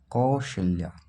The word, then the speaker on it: कौशल्या: खेल सकते हैं लेकिन कौशल्या आप उसको प्रोनाउंस एशन करके भी देखें कौशल्या जो स व आता है श्रोता ये शता य पर लगा लेकि य पर क्या होगा सिटकरी वाला श होगा तो राइट आंसर क्या